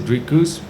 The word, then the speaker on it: Dricus: a little bit better they said rikuz which is a lot closer than well to be honest the american folk has been struggling to say my name it's uh just because of the r they don't really have the the sounds in the in the vocabulary so i mean it's